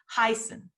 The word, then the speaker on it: heißen: But in German, if you have an E-I, the I is pronounced. Heißen. If you have an I-E, the E is pronounced. It'd be Heisen.